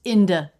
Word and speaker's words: into: word into is pronounced IND in regular English conversation quite a bit in conversational English that's the I as in Sit n and then in a D sound in the schwas so